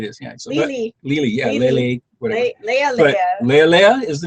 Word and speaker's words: Lealea: And tries to pronounce the name of our boat. Whatever it is. Yeah. So Lealea. Yeah. Lealea.